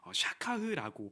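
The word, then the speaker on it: שָׁכַח: 여기서 등장하는 있다라는 단어를 원어로 살펴보면요, 샤카흐라고 발음을 합니다.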